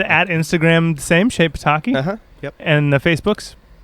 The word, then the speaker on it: Pitaki: First of all, Shane is in a band called Shape Pitaki. I don't know how to spell it, but Yeah.